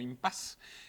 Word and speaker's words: impasse: de la palabra impasse que se escribe con un doble s que es traigo un doble de selle y que generalmente pronunciamos como impase este es un área